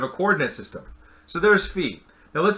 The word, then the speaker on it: Phi: called Phi right so that's Phi or if we wrote it phonetically fee and what Phi is